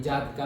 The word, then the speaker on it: Jataka: Okay, Jataka नहीं, generally जातका ही pronounce करते हैं, तो जातका टेल्स ऑफ से बुद्धिज्म रिलीजन।